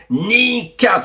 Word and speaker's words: Kneecap: Vous avez peut-être entendu parler d'un groupe nord-hirlandais de hip hop qui s'appelle Nikap. Ça s'écrit K N E E C A P de Patrice et non pas B de Boem.